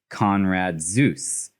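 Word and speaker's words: Konrad Zuse: creator and his user conrad zeus which he definitely is like that is spelled z-u-s-e just like zeus's name conrad zeus is kind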